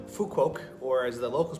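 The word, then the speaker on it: Phú Quốc: was in Vietnam on a little island called fuqu or as the locals pronounce it Fu woke and uh every day I was having a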